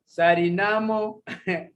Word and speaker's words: Suriname: so hard for me they they themselves they call it sarinamo when it comes to writing they write suriname now i'm from uganda